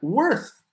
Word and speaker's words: worth: A ver, ¿cómo ocupar y pronunciar worth? Tu valor, your worth. Worth, worth, worth. Y esa TH con aire, ¿verdad? Worth. So not worth, worth.